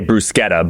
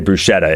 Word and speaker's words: bruschetta: cuz they uh Italian pronunciation, we should say brusetta, but we all say bruschetta in America, right? Because we don't treat the ch the same when we Americanize it.